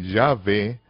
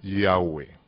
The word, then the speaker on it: Yahweh: Y los judíos askenazi pronuncian el nombre Yahvé, cambiando la Vav en un consonante, pero se pronuncia como lo hacen los judíos sefarditas, los judíos españoles, cuya pronunciación es reconocida